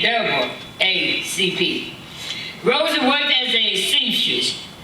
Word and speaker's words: NAACP: advancement of color people the NAACP pronounced in double A CP Rosie worked as a